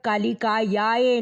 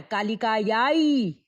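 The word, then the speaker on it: कालिकायै: जब कालिकायाय नहीं है, कालिकायाई है।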